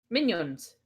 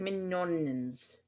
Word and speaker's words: Mignons: Minions. Minions? Yeah. Oh god. Not minions. It's like mignons.